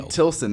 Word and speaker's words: Tilson: Wylie Tilson is how you say the last name, right? Yeah.